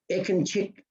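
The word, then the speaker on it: Ekincik: what greg just did when you see the c you pronounce it as if it was ch it can check anyway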